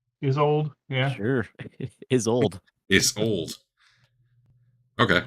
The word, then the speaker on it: Isolde: How would you pronounce this name? Isolde? Isolde, yeah.